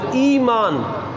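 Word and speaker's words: إِيمان: ہوتا ہے یمین کی، اور یمین کہتے ہیں قسم کو زبر کے ساتھ، ایمان۔ اور ایمان زیر کے ساتھ وہ عقیدہ ہوتا ہے جو عام لفظ استعمال کرتے ہیں نا، ایمان کا۔ تو یہ تلفظ میں بھی فرق کا لحاظ رکھنا چاہیے۔ ایمان یمین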